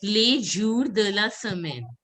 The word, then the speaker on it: les jours de la semaine: Days of the week is les jours de la semaine. Les jours de la semaine. I'm just writing it. Days of the week is pronounced as, I'll just write it, les jours de la semaine.